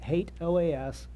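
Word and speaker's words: HATEOAS: in the past I can assure you that hate OAS is the correct pronunciation I'm also going to bring in the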